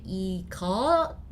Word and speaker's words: 이것: No, it's because if the S sound is in the bottom, like this, we pronounce it T. But we do not complete the T sound, that's the thing. So we actually say 이것, not, alright? 이것, you have to cut it there.